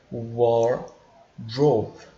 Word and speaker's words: wardrobe: Detalhe para a pronúncia, wardrobe, né? Lembrando que esse R ele tende a ser um pouquinho forte, né? Ele tende a ser um pouquinho puxado, tá?